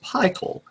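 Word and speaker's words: Pikul: They started off with an EP, commonly referred to as Pickle, even though I learned from researching this, it's actually pronounced Pickle.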